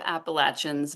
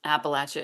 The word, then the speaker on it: Appalachia: ask I know that an awful lot of Appalachians believe that um Appalachia is the correct way to pronounce it and that if you were to say Appalachia that's the you know that's the word that the oppressors would use um and there are